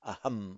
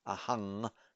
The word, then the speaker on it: aham: For the Pali students among you, note that in Sanskrit it would be pronounced as aham on its own, not ahang, which you would tend to do in Pali, particularly in the pronunciations of say, Thailand and Sri Lanka.